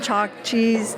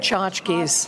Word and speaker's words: tchotchkes: We just got some chalk cheese, how do you say it? Tchotchkes.